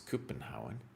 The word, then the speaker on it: Copenhagen: Then if you say, oh, I'm from the Copenhagen, which they pronounce Copenhauen.